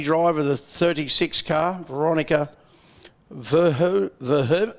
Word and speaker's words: Verhoeven: We've got the lady driver, the 36 car, Veronica Verhoeven. How do you pronounce that? Van Hooven?